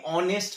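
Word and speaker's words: honest: কিন্তু এখানে দেখো অনেস্ট ম্যান, এখানে এইচ এর উচ্চারণটা হচ্ছে না, এইচ এর সাইলেন্ট, তাহলে এইচ এর উচ্চারণ যদি করতাম আমরা হনেস্ট ম্যান বলতাম, তা তো বলি না, আমরা বলি অনেস্ট ম্যান।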